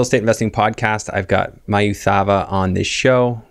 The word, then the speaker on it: Mayu Thava: I said it right? Yeah. Yeah, Mayu. I get everything. Okay. Yeah. All right. Well, I did my best. What do you prefer to go? Mayu. Mayu. Okay. Mayu. All right.